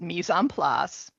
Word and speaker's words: mise en place: So my company name, it's a French term. It's pronounced mise en place.